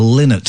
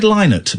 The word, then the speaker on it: Lynott: And I'm going to try pronouncing his surname in a way I've never done, but I think is actually the correct way. Phil Lynott from Thin Lizzy. Uh-huh. I've always said Lynott, but more and more